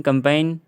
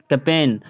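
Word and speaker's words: campaign: पढ़ा जा रहा कि कंपेन कंपेन नहीं पढ़ता कहीं हम लोग कंपाइन पढ़ते कंपेन कंपेन कंपेन है ना तो उसमें जी साइलें है और इधर जैसे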